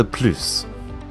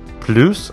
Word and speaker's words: plus: souvent en français mais on peut le prononcé de deux façons plus en prononçant la hesse où son procès laisse comme plus ce qu'il faut savoir lorsque plus fait partie de négation on ne prononce jamais le s donc andy les phrases